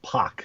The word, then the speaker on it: Pak: name was actually pronounced POC which is not something many people really know so no sweat but but yeah it's it's actually POC instead of pack you know that makes